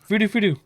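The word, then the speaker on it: フルフル: pronunciation is, Fudu furu fudu. furu. Fudu fudu is how you say it in Japanese.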